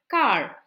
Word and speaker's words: quart: q-u-a-r-t means quarter car it's pronounced as car like the car we drive car okay now how